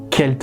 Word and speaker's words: Celtes: est également l'emblème des peuples celtes celle tout kelt selon la véritable prononciation les trois nornes ou